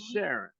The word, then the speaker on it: Sharan: Sharon, and I'm Aaron. Wow. So actually, my name is spelled Aran. Mhm. Sharon is spelled Sharan, and Mhm. Karen is spelled Karan.